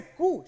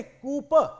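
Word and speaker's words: coup: कहते हैं कु वैसे कु शब्द की स्पेलिंग होती है सीओ यू पी लेकिन इसे कु प नहीं कु पढ़ा जाता है और कहते हैं कि पी साइलेंट होता है इसमें और ये जो पी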